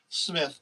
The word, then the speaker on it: Smyth: that decided to let legendary broadcaster tommy smythe smith but it's spelled spice tommy go so i don't know